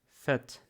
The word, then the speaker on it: fett: Если два согласного после гласного, мы знаем, что надо произносить его коротко.